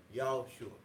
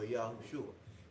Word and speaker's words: Yahushua: Now what we're going to do, that's the actual name, Yahushua, or Yahushua. But we're going to pronounce it according to the English, just so we can have the distinction between Joshua and Mashiach.